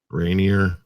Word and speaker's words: Rainier: one sasquatch something go come yeah was it Renier Rainier right here is that how it's pronounced yeah the mountain there Rainier I know there's a there's a a Renier